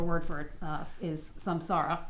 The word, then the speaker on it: samsara: for it uh is samsara from Sanskrit some sorrow spell light spelled like sand spelled like Sam and then like Sarah without an H uh yeah so I'm